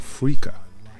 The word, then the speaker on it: Freekeh: And this one is called Freekeh. And I'll spell it for you.